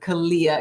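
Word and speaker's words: Calea: The Mexican dream herb, Kalia. And I'll spell that for you guys for those of you taking notes.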